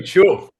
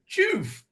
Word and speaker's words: Choof: I'm glad you like it, and I love hearing Americans say "joof" Yeah. because we say "chuff." We say Oh, we say "chuff," but uh, every time I hear an American say it, they go "choof."